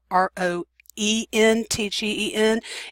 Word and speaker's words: Röntgen: this anywhere that it's ro e NT GE n it is the same person it's just the way it's written but I will still kind of say roentgen because that's what we always hear when we talk about the discoverer of x-rays he was born in